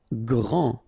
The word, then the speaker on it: grand: Grand. Final D not pronounced.